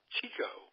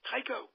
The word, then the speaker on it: Tycho: So he has it shortened, and he pronounces it all through his life, Tico. With a direct shortening. But everybody else in the whole family, the kids, every Tycho. We were Tycho. But we were Tico to him.